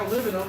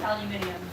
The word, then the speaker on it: aluminium: We have aluminum, and they have aluminium. Aluminium. I actually pronounce it aluminium.